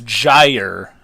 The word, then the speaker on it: Gyre: as my name so it's gyre as in rhymes with fire and I even call